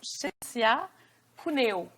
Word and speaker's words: Cinzia Cuneo: parce que ça rejoint beaucoup, je vais le prononcer comme il faut, Chécia Puneo.